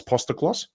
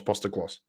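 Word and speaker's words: Postecoglou: Angelos Postaklos. Postaklos, yeah. It's the first time I've ever had like an ethnic name where actually adding syllables makes it easier to pronounce.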